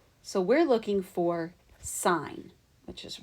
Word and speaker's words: sin: it's asking us to find sin or sign is how you pronounce it but it is written sin because that's the way it is in the calculator sign C so the